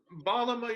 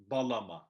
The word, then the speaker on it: bağlama: going on here is, without the G, these words would be pronounced da, ya, balama, instead of bağlama. So essentially what it does is it kind of extends the vowel that comes before it.